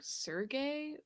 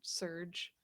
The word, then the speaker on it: Serge: Also, I'm pretty sure like Serge is usually pronounced like Sergey, but I don't know. I guess it's just Serge. It is Serge in this in this universe.